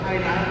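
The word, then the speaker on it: Kainai: She is positioned in Gaina, or Kaina, which is how they pronounce it now, in modern Blackfoot.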